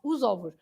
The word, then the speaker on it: os ovos: Os ovos. You don't say Oh, oosh. very well. You coming in the room and saying that, Mrs. M. She just came in and said it straight off the top of her head, os ovos.